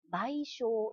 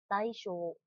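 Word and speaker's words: 賠償: 念成賠償是念零型。賠償三番也是念成零型的，念成賠償。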